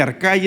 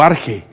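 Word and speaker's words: ἀρχή: Arcai se puede pronunciar también, le dije, como arche o arge, y es una palabra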